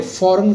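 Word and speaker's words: foreign: है बल्कि किसी बाहर फॉरेन का मतलब होता है बाहर य ये स्पेलिंग आपको याद करना होंगे स्टूडेंट्स ये फॉरेन का वर्ड है इसमें आप यूं कहे कि जी साइलेंट है और इसका मतलब हो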